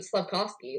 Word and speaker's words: Slavkovsky: Slavkovsky, let's talk about him.